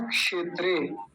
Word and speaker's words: क्षेत्रे: तो क्या बोलेंगे धर्म अब सबसे ज्यादा गलती होती है यहां इस अगले हिस्से में अगला हिस्सा क्या है क्षेत्रे यह वाला और इसमें यह वाला जो अक्षर है यह वाला जो वर्ण है इसमें सबसे ज्यादा गलती होती है कैसे क्षेत्र बोलते हैं कुछ लोग छ छ से छाता होता है ना ये वाला इसकी जगह ये बोल देते हैं धर्म क्षेत्रे जैसे मैंने